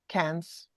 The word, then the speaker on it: Cairns: Cairns, yes.